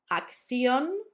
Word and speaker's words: acción: It's a double C. For us, it sounds like th. It will sound much easier once you see the words. Acción, dirección. I've told you before that third sound can be substituted for a s.